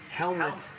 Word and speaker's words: Hellmuth: How do you say it? Helmet. People say Hellmuth, Hellmuth, whatever.